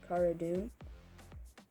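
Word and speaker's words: Cara Dune: they could have included sarah dune that's how you pronounce it cara doom so in this episode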